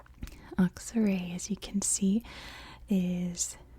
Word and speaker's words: Aksaray: That's just how it's spoken, or that's how it's pronounced in English, in American English. Aksaray, as you can see,